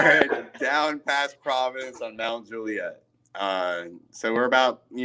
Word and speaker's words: Mount Juliet: mountain juliet road right pronounced mount juliet let me just stop you right there real quick i don't know there's juliet we're not talking about shakespeare homie it's mount juliet i don't even know